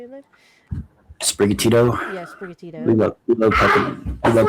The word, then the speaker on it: Sprigatito: Yeah, Sprigatito.